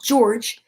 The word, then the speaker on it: George: is a soft c well george is the soft g it's not like hmm